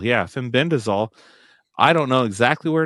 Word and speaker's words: fenbendazole: fenbend dazole. Yeah, fenbendazole.